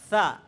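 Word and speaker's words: ث: এখন এই সাটাও পাতলাই উচ্চারণ হয়, তবে এটার উচ্চারণের মধ্যে কিছু কৌশল দেখাই দিতে হয়, আর না হয় ভুল হয়ে যায়। কিভাবে? বাচ্চাদেরকে বলবে যে তোমরা জিহ্বা বাইর করো, জিহ্বার আগাটা দাঁতের আগার সাথে লাগাও, জিহ্বার আগা সামনে দাঁতের আগার সাথে লাগাও, এরপরে একদম নরম করে উচ্চারণ করো। সা এভাবে শক্ত আওয়াজ হইতে পারবে না, ঠিক আছে? সা বলে কি হইতে পারবে না? আওয়াজ শক্ত হইতে পারবে না।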